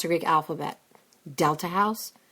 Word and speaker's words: Delta: pronounce the Greek alphabet Delta house there's no letter D in the Greek language it's a hard th like the house today you learn something